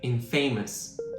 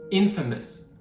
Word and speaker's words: infamous: Sometimes you might hear people say inf famousamous, but the correct pronunciation is infamous with the stress on the first syllable.